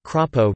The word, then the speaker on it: Crapo: In his Senate bid, as in his House campaigns, Crapo's campaign made signs that had a macron placed over the A in his name Crapo to indicate its correct pronunciation.